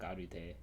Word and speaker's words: Arte: So you pronounce the E at the end of Arte like the Japanese do. Yeah, that's how I read it. I read it like Arute.